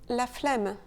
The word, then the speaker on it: flemme: Et on dit aussi la flemme. Et là encore, on a cette suite de lettres, E-M-M-E, mais on la prononce différemment.